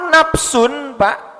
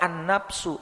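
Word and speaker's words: نَفْسٌ: daripada al-qur'an World under nafsu NBA disana ada lafadz nafsu-nafsu itu menggunakan tanwin tidak menggunakan alif lam dibacanya tidak and nafsu tapi nafsun nah tanwin itu memberikan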